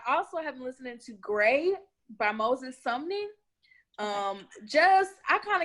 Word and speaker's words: Grae: And Gray is spelled Grae.